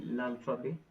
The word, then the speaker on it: l'alphabet: So basically, l'alphabet, say in French, this word is written in French and it means the alphabet, right? Okay. So apostrophe alphabet. We don't pronounce this T.